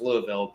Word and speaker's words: Lewisville: It's actually Lewisville, which is in Kentucky pronounced Louisville, but uh yeah, it's